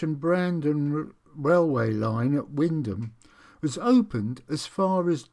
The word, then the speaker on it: Wymondham: And I shall be now looking at the old Great Eastern Railway line from Windham. Yes, that's the correct pronunciation to Wells on Sea on the coast.